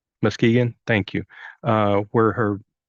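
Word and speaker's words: Muskegon: had actually occurred in oh how do you pronounce that mus Muskegan Muskegan thank you uh where her mother's family lived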